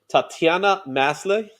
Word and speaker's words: Tatiana Maslany: Tatiana Maslany.